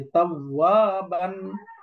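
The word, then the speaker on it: توابا: যেমন উদাহরণস্বরূপ একটা শব্দ হলো তাওয়াবান। এই যে তাওয়াবান, এখানে যদি আমরা ওয়াকফ করি তাহলে পড়তে হবে তাওয়াবা, তাওয়াবা, এরকম পড়তে হবে তাওয়াবা।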